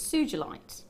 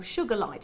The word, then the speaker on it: Sugilite: It's Sugilite, or Sugarlight, it depends on how you want to pronounce it.